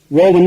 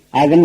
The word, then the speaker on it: oven: ஆக்சுவலா இந்த OBEN இந்த வார்த்தைய ஓவன் உச்சரிக்கிறாங்க. ஓவன் உச்சரிக்கூடாது, அவன் உச்சரிக்கணும். அப்ப உச்சரிப்பு என்ன? அவன். சரி, ஸ்பெல்லிங் என்ன? OVEN. நிறைய பேர் இத ஓவன் உச்சரிக்கிறாங்க முதலே சொன்னேன், அது தப்பு. ஓவன் கிடையாது, அவன் தான் இதனுடைய சரியான உச்சரிப்பு.